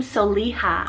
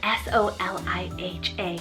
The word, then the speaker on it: Soliha: so animal inspiration then we have the name soliha on the girl side s-o-l-i-h-a soliha very beautiful arabic originated name meaning kind